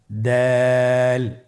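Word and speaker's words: د: দাল হরফটিও বারিক হরফ। উচ্চারণ করার সময় অবশ্যই 3 আলিফ টেনে পড়তে হবে। দালের মাখরাজ হলো জিহ্বার আগা সামনের উপরের 2 দাঁতের আগার সঙ্গে লাগিয়ে উচ্চারিত হয়।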